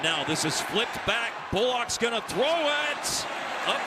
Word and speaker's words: Bullock: And Colorado State has their players pronounce their names, so he does go with the, if you're familiar with the NBA, the Reggie Bullock style pronunciation of the last name B-U-L-L-O-C-K, Bullock.